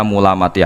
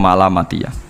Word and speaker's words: Mulamatiyah: Ada sebuah tarekat bernama Mulamatiyah yang pernah disebutkan dalam manaqib , ya, Mulamatiyah. Sebagian orang membacanya sebagai Malamatiyah.